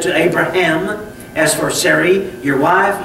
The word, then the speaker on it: Abraham: the letter H and the H is pronounced with a breath okay and that breath